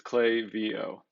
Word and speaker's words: Klaviyo: here they state that we've heard all sorts of pronunciations of clay vo clay vo whatever but the way it's pronounced is clay vo so there you go